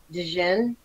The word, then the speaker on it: jinn: Is it Jin or Jin? I think it's DJIN, right? Because the D is silent. Dijin. It's Dijin, like that.